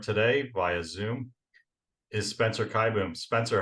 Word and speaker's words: Kieboom: Yeah, Kieboom, Kaboom, Kieboom, but yeah, Kieboom.